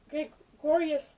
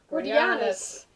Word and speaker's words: Gordianus: So it's about Gregorius the Finder. Gordianus. I always say his name wrong.